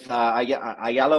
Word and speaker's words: Ayala: pair mostly with David Ayala? With Ashala? No, with Ayala or Ashala, depending on how you want to pronounce, how Argentinian you want to pronounce it.